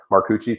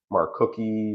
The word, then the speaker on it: Maruchi: zund zund possible cloes my my my last name always gets mispronounced so I totally understand that maruchi people are always saying like Mar cookie marusi maruchi bunch of random stuff so just how it